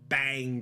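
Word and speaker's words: Baang: like he talked about the bang grenade and I say it like that CU it's b a a n g and you only have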